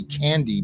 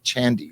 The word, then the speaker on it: Chandi: mispronouncing your name because i want to say candy but it's c-h-a-n-d-i and the all-wise internet told me it was pronounced chandy so hopefully i'm getting